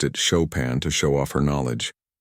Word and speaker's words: Chopin: She pronounced it Chopin to show off her knowledge.